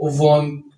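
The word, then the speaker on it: 원: ठीक है, तो ये यहाँ पे वॉन कैसे, ये यहाँ पे ई साइलेंट होता है, ये वाव वाला वावल लगा है, नीचे फिर नियन लगा है, तो ये बन जाएगा वॉन।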